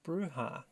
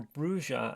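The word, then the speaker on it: Brujah: to make it clear is bruha or bruja as the first book tells you you should pronounce it but everyone seems to pronounce it bruha I have had a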